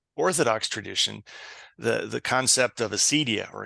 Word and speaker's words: acedia: Going back further in the Catholic Orthodox tradition, the concept of acedia or acadia, it's sometimes pronounced, that Evagrius talks about, which is, really trying to understand it as a spiritual malaise.